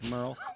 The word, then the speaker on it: Merle: Merl.